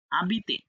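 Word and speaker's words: habiter: জুয়ে ওকে এখানে আবিতে আবিতে হ্যাঁ কারণ এইচ উচ্চারণ করবো না আশ মিউট তাহলে আবিতে আবিতে এখানে তম্বে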